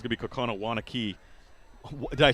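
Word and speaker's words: Waunakee: But Brett, it's really looking like it's going to be Kokona Wanakee. Did I say that right? It's Wanakee. I think they pronounce Wanakee.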